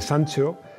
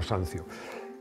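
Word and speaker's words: Sanzio: da vinci michelangelo buonarroti rafael sancho sanció perdón pero se pronuncian italiano sancio sandro botticelli tiziano y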